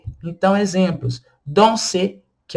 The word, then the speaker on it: danser: Danser, que é o verbo no infinitivo dançar, danser. Olha só como que eu estou pronunciando o ER. Eles se juntam e formam um som só.